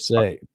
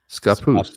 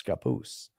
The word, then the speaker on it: Scappoose: Scappoose. Scappoose. That's what I said. I think I All right, close. so Scappoose. There's no Scappoose. Scappoose. Pronounced like- like a native baby or young child. A papoose.